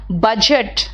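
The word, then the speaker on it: budget: third वाला सही है बजट बी य डी जी ई टी होता है तो बजट में डी साइलेंट होता है लोग उसको कभी कभी गायब कर देते हैं वो गलत है बज बजट बजट एरी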